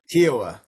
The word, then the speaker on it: Kiawah: You're going to talk to us about I don't even know how to pronounce it. Kiwa. Kiwa. Kiwa.